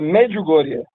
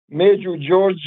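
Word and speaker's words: Međugorje: Uh, magugoria. Maybe you call it in English speaking uh area with some weird pronunciation like like Major George or something.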